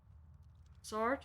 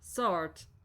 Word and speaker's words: sword: Sword. Sword. The W is silent, I think.